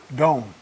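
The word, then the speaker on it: Doane: Dome. They just pronounced it Dome.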